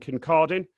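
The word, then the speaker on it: Kincardine: We're also joined by Andrew Bowie, who's the Conservative MP for West Aberdeenshire and Kircardine. Did I manage to pronounce that right, Andrew?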